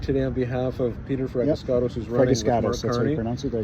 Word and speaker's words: Fragiskatos: I'm the in the neighborhood today on behalf of Peter Fiscato who's writing.